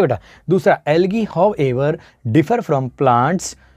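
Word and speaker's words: algae: होते हैं, जिन्हें हम एल्गी कहते हैं। प्रोनाउंस क्या करा जाता है, एल्गी, बड़ी ई का साउंड प्रोनाउंस किया जाता है, स्पेलिंग भले ही ए हो।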